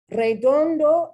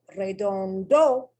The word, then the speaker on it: redondo: Redondo is the incorrect pronunciation because I put an accent there. And so it tells me that this word does not follow the rule. It does. And it tells me that the accent is at the end of the word. No, it's not. It's in the next to the last syllable.